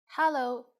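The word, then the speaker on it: 哈囉: as you can guess Hollow is just hello with the Cantonese pronunciation we use it when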